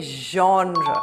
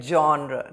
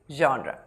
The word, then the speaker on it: genre: Say genre. Don't say the hard G like genre. Don't say J. Say J, the soft J, genre.